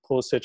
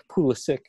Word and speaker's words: Pulisic: You see the same with Pulisic. I keep using the German German and Slavic pronunciation because we're talking about Bundesliga, but Pulisic.